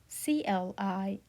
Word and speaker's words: climat: It would pronounce as climat, climat, like climat. The I is the E sound here, right? And then A is the A sound, right? We pronounce it climat.